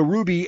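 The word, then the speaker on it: RWBY: So Ruby, and it's spelled R-W-B-Y. So replace the U in the gem Ruby with a W.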